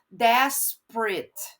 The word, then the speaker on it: desperate: passionate olhem aqui uma questão bem legal de pronuncia tá no finalzinho quando eu tenho esse eu faço o som de it desperate passionate tá eu não falo passionate desperate tá